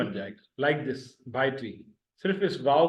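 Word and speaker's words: ڀائٽي: भा एक हिस्सा, ए दूसरा हिस्सा, टी तीसरा हिस्सा, BHAA भा, एपोस्ट्रॉफी यानी पॉज आया, AEY दूसरा हिस्सा, TI तीसरा हिस्सा, भाई टी यानी भतीजी यानी नीस।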